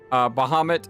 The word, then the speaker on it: Bahamut: Bahamut, I say Bahamut instead of Bahamu. But I've heard some people say Bahamu instead of Bahamut.